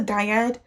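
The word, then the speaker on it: dyad: So looking at D major, uh just a uh just a diad. So a di means two. Uh it's spelled D I A D.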